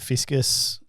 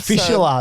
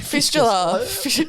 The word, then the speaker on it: fistula: Like there's a whole bunch of other complications that you've had with like was it fiscus? How do you say it? Fistula. That's it. Fistula.